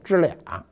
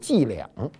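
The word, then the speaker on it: 伎俩: 什么叫知俩呢？标准发音应该是这样的，就是他老跟我玩这小伎俩。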